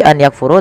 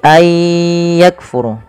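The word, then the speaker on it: أن يكفروا: Maka ayah cara membacanya bukan lagi an yakfuru tapi ayakfuru. Kaf.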